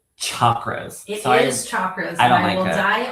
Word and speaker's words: chakra: me when I hear chakras. It is chakra is the correct way to say it. But in the house of Monroe, we say chakras with a very soft sh like a That's